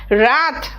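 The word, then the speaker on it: wrath: silent है it's right W silent है देखो रथ रथ मतलब गुस्सा रिंग रिंग मतलब निचोड़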